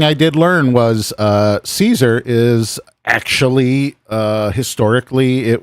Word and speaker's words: Caesar: Caesar is pronounced with an S sound in English and with a K sound in Latin.